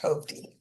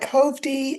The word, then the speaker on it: Hovde: I think his name is pronounced Hovde, Hovde.